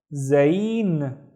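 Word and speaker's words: زين: I see one vowel, so it's only one syllable. We have zain.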